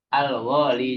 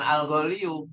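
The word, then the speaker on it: الغالي: Al-gholi. Jadi seandainya golin ditambahkan al, maka dia tanwinnya hilang dan ditambahkannya sukunnya, bukan ya domah, bukan al-gholiyu, tapi apa? Al-gholi, tetap ya-nya sukun, gitu ya.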